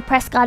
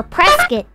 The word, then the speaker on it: Prescott: I've never been the Prescott Arizona actually Prescott oh man I feel bad doing that because it annoys the hell out of me when I see other people do it okay so press it okay okay let's please